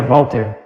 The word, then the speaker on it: Voltaire: Pronúncia é verdadeira Voltaire, nada de Voltaire. Voltaire é para todos os analfabetos. Qual é a dificuldade de dizer Voltaire? Voltaire, V-O-L-T-A-I-R-I. Nada além disso.